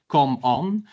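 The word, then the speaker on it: Comon: And um you pronounce come on as come on because uh we emphasize doing and making over endlessly talking etc.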